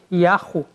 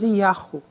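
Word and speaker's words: Yahweh: Mas, hoje em dia, há vários estudiosos que acham que talvez houvesse outras pronúncias possíveis, como, por exemplo, Yahu, por exemplo, Ierro, por exemplo. Parece que, hoje em dia, está mais para aceitar essas duas pronúncias, mais Yahu, possivelmente.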